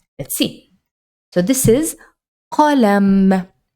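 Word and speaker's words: قلم: Sometimes pronouncing this particular letter in a word might be easier. Let's see. So this is qalam, qalam.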